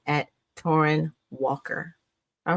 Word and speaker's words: Torraine: Um, the way it's pronounced is torren. And I way I tell people it's like torren like foreign.